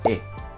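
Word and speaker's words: へ: Bien, y como última partícula de función gramatical tenemos la partícula e. Esta partícula e, aunque se escribe con el carácter de hiragana de he, se lee e.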